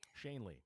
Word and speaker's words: Shanley: Garrett how do you say sha Shaun Ley Shanley shanely yeah so you know like th those